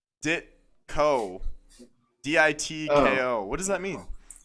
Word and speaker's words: Ditko: towed by I your pronounced it dick. wrong. It's Ditko.